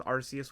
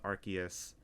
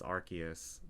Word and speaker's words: Arceus: for them it's arceus i thought it was arceus when i was a kid but it's actually pronounced arceus so for anybody watching it's arceus but i'm not going to tell you how